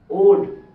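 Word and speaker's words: would: এলাচ উচ্চারণ হবে না উড ডি এর পূর্বে এলাচ উচ্চারণ হবে না তাইলে ডি এর আগে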